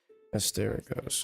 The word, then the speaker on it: Asterigos: Asterigos, okay.